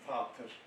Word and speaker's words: Vater: The same for the father word, Icelandic father, Old English fader, German vater, Germans write B but pronounce it an F.